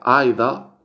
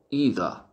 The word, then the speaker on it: either: Se pronuncia Aida o Ida. Aida o también se puede pronunciar Ida.